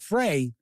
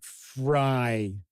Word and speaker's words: Frey: This new and updated supplement is written by the original author, Frank Frey, and Chris Keeling. It might be Frank Fry, because I have seen the spelling of his last name pronounced Fry, F-R-E-Y.